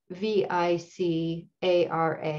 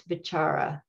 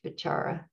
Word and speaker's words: vicāra: companion that the called the chara which is v-i-c-a-r-a and there's a long accent over the first a the c in poly words is always pronounced ch so it's bachara even though it looks like vicara but it's